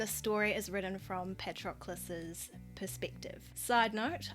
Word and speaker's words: Patroclus: And the story is written from Patroclus's perspective. Side note, I would love to say Patroclus, however, Google pronunciation said Patroclus, so my hands are tied.